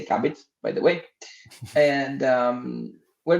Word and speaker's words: Cubbit: First of all, I'm going to make a short walk of, let's say, what is Cubbit or Qubit, the way you want to pronounce it actually, but we say Cubbit, by the way.